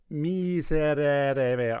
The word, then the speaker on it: Miserere: Now remember, bright Italianate. Miserere.